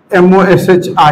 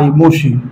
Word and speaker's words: Moshi: Chatbot का France के एक चैटबॉट डेवलप हुआ है, चैटबॉट जिसका नाम है, स्पेलिंग बोलिएगा, MOSHI, मोशी, ठीक है।